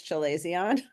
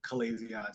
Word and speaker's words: chalazion: was how to pronounce chalazion, because I wasn't sure if it was a ch or a k. Now, there's people I've heard that are say Calazion.